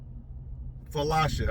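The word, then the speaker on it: Falasha: Felasha. I'll spell it.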